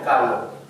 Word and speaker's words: Kahlo: How would you pronounce Kahlo in German? Kahlo. Kahlo, huh?